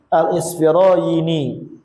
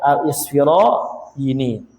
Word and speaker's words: Al-Isfirayni: Al-Imamul Jalil Abu Hamid Al-Isfirayni, atau gitu ya. Wallahu alam cara bacanya bagaimana ini. Ini bi kasril hamzah wa sukunis sin al-muhalla wa fathal fa. Oh, ya, berarti cara bacanya Al-Isfirayni, ya, Al-Isfirayni. Naam.